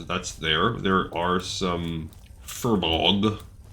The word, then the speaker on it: Furbolg: There are some Furbolg. I'm pretty sure the pronunciation's unambivalent about that one, but the computer pronounces it like Forbog or something like weird like that.